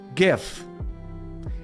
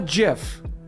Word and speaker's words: GIF: For instance, GIF. It is not a GIF. Okay? Jif is a peanut butter. It is a GIF. The first word stands for graphics. G. It is GIF.